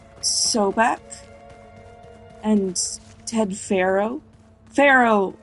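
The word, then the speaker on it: Faro: name soac and Ted Pharaoh Pharaoh like is close it's pronounced the same as Pharaoh Like An Egyptian pharaoh and cannot Comm me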